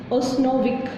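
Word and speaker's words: Usanovich: Fifth असी concept करांगे you silent रहना बेटा उस्नोविक, उस्नोविक यू ओ नहीं बोलना, यू नहीं बोलना, यू बोल सकते हैं प्रोनाउंसिएशन के लिए उस्नोविक concept of acid and bases.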